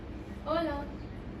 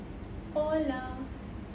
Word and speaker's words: hola: Hola. Hello. Hola. It's not cola, it's hola because h is silent in Spanish.